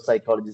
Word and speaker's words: psychology: The word psychology, P is silent.